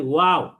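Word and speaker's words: و: আর 2টা ঠোঁট যদি গোল করি তখন এই উচ্চারণ হয় ওয়াও।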